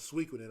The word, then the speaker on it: Suikoden: That Suikoden was Suikoden. I'm sorry, that's how it's pronounced.